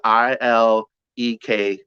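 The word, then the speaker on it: Ìlẹ̀kẹ̀: It's Ileke. Yes, it's Ileke. It's spelled, and I believe it's a dot under both of the E's, and I think it's all low tones, if my memory serves me correctly.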